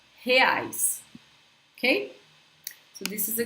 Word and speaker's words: reais: Reais, reais, reais. When we have a word beginning with an R in Portuguese, guys, I suggest you